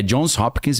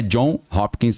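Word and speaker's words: Johns Hopkins: É Jones Hopkins mesmo, tá? Para quem acha que eu tô pronunciando errado, não é John Hopkins, não é Jones, tem um S Hopkins.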